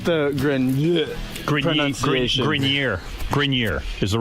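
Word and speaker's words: Grenier: It's actually Grineer. Adrien Grineer.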